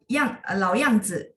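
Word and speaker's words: 老样子: 好，老样子, nya pendek aja ya. Sebenarnya nggak salah, cuma kalau memang mau tepat, 老样子 pendek ya.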